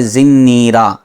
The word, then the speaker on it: زنیرہ: زنیرہ، یہ اس کا صحیح تلفظ ہے۔ اس کو زنیرہ سے زنیرہ کر دیا۔ را کے نیچے ہے زیر، نون میں تشدید ہے، زیر کے ساتھ پھر آگے یا، پھر را اور گول ہا، تو یہ بنے گا